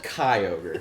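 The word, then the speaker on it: Kyogre: Well- In fact, I'd say rhymes with fly ogre. Fly. Fly over. No. They're not gonna get it. It's so random. It says It's Shy ogre. so close. So close. Kai ogre.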